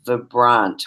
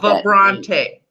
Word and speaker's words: Vibrante: idea and your company your company pronounced the brunt which I love that you said that's a combination of French and yeah it's vibrant and French vibrant and French yes yes Prante yeah I love that